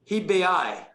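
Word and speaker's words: Hebei: don't pronounce it well but the province of hibeai i guess you pronounce it that way h-e-b-e-i yes see my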